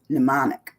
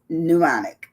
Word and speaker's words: mnemonic: so today's word is pneumonic now the m is silent in pneumonic so even though it looks like it should beic no it's pneumonic which is M NE